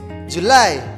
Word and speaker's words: July: we have to say july the stress is in the second cylinder july july july let's